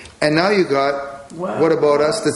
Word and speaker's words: W'at Abowt Us: happen if we spelled what about us phonetically okay how would that sound well first of all you don't pronounce the h so take out the H and put an apostrophe and the word about